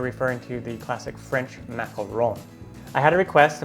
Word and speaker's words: macaron: Today, I'm going to show you how to make classic French macaroons, or the correct pronunciation is macaron, with actually one O.